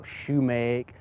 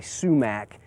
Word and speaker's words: sumac: color are the sumx now some people may pronounce it shac or Shoemake but generally sumac is more accepted now we have a